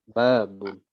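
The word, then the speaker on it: باب: Babun. Baknya ya? Ya. Ya, baknya panjang. Kalau ada yang panjang, maka penekanannya dalam pelafalan maksudnya atau stressingnya itu di yang panjang ya.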